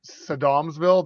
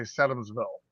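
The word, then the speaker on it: Sedamsville: What's interesting though is I always said it wrong. Like he says it Sedumsville. That's not how the locals say it. They say Sedumsville.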